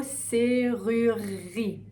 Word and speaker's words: serrurerie: Qu'est-ce qui se passe ici? On a un C comme la lettre, C, ru, ok, ru, vers l'avant, ri. Ok, serrurerie. Le serrurerie, là, comme il y a deux R qui se suivent, c'est un peu difficile et on va bien le faire deux fois. Serrurerie.